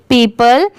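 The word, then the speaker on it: people: ये क्या है पीपल पी ई ओ पी एल ई पीपल अगर यहां पर वर्ड टू वर्ड प्रोनाउंस करें तो इसे पीपल नहीं पढ़ेंगे इसकी साउंड भी अलग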